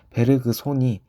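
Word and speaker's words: 베르그손: 산 것으로 알려져 있습니다 흔히 알려져 있는 것은 배를 그 송이라고 알려져 있지만 최근 베르그 손이 올바른 발음이라 알려지며 베르그 손이라고 불려지고 있습니다 앙리 베르 구성에 대한 평가를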